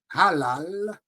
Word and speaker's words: halal: premier mot nous dit c'est le mot halal h a l a l halal pas prononcer t juif tu prononcé pas tê problèmei